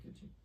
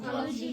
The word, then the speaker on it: খিলজি: খিলজি আলাউদ্দিন সবচেয়ে খলজি বলে না, না, খিলজি বলে। ওদের নাম জালালউদ্দিন খলজি তো। খলজি খিলজি একই হলো। একই ব্যাপার, মানে বাংলায় ওটা উচ্চারণ খলজি।